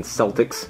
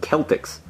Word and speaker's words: Celtics: Stupid Boston Celtics. You didn't even say your name right. It's pronounced Celtics.